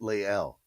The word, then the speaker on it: Lael: Is it Lael Collins? I'm going to say it right, Lael. See, I just needed somebody like you, Von954, to pronounce it for me phonetically so that I could get it correct.